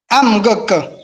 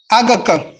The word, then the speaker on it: Amgek: Amgek. Amgek. Comment ça va? Gek. Il faut que le M là soit bien compris. Il faut que ce soit bien prononcé. Si tu dis Agek, sans dire le M,